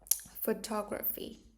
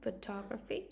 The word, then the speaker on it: photography: Cái từ này em này, nó đọc là photography. Đây là âm O nhé, photo. Thì các em có liên giọng em vẫn đọc là photography. Vẫn phải đọc là to nhé, photography.